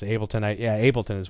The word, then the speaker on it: Ableton: I've just never been sure how to pronounce it. Ableton.